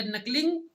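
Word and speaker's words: knuckling: ये नकलिंग ये है, ये के साइलेंट होता है, हमेशा के साइलेंट है इसमें।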